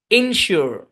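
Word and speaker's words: insure: অংশের উচ্চারণ সুর শু ইন সিওর ইন সিওর ইন সিওর ইন একটু আগে ইন সিওর বললাম না ওইটার এটা সেম উচ্চারণ ওইখানে ই আছে ওইখানে ই ছিল আর এখানে আই দুটা সেম উচ্চারণ হোমোগ্রাফ সরি হোমোফোনস বুঝছেন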